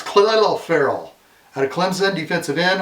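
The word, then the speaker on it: Clelin Ferrell: Khalil Ferry. It sounds like it's saying Colin Farrell, but it's Khalil Farrell out of Clemson, defensive end.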